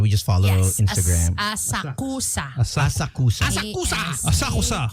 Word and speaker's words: Asakusa: Asakusa. Asakusa. Asakusa. K-U-S-A. But it's pronounced Asaksa.